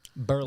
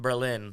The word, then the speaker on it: Berlin: So they did an official state legislature, changed the pronunciation. Oh, wow. And it's called I believe it's Berlin. Berlin. Yeah. Berlin. Not Berlin like Germany.